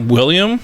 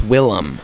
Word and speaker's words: Willem: his name William Defoe Willem Dafoe Willem his name's not Willie yum it's a little Willow Willy Defoe it's not William it's Willem Will I Am the Defoe